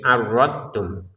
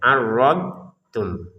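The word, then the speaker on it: أردتم: Jadi kesalahan pertama dotnya tidak dipantulkan menjadi arrotum. Yang kedua dotnya dimasukin ke ta ya adottum salah juga. Maka ini bagaimana cara bacanya? Dnya disempurnakan arrod kemudian tum. Tapi jangan ada jeda ya. Arrod tum. Jadi di lidah sisi kanan atau sisi kiri itu menyentuh ke gigi atas itu dnya arrodum.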